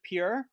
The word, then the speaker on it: Pierre: What we do is our state capital is it's spelled Pierre, but everyone calls it Pure.